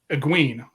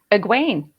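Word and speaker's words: Aegwynn: ween egg ween so so kitty what's the actual pronunciation you got it right it was it's a gwain yeah and i called it a queen yeah always did we say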